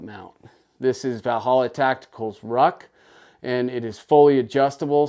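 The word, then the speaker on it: Rukh: is a brilliant design it's called The Ruck I think I'm pronouncing that correctly it's spelled r u k h the holot Tactical Ruck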